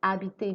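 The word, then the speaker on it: habiter: vowel and I'm using I didn't say happy I said habitate because the H in French is silent so we pronounce from the vowel after the letter H so when you don't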